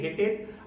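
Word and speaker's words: hated: अगर टी और डी दिखाई दे जाए तो आपका जो प्रोनाउंसिएशन होगा, जो ईडी का प्रोनाउंसिएशन होगा वो एड या ईड हो जाता है। एग्जांपल के तौर पर हेट से हेटेड और डिसाइड से डिसाइडेड आपने देखा।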